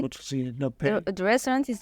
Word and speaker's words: Rôtisserie de la Paix: Rôtisserie de la Paix. Rôtisserie de la Paix. The restaurant is Rôtisserie de la Paix and the Dar Jaffa.